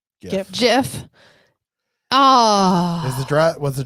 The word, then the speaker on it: GIF: okay here we go how is it pronounced gif or jiff gift gift gif i say gif jeff the internet has decided it's actually jiff oh is it was